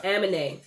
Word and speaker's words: Aminé: Aminé, that's how you say it.